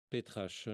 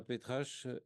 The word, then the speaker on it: Petrache: sous la direction de Anna Petrache. Je prononce à la française.